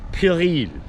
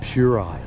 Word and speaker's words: puerile: It's pronounced pueril. So fuck off. So it's not puerile.